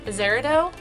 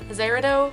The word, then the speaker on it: Azeredo: so this is reviewing my Azera dough Zahra dough I think it's pronounced and I'm so sorry about butchering it um Azura dough lashes this company reached